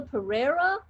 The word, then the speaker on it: Pereira: is it Pereira?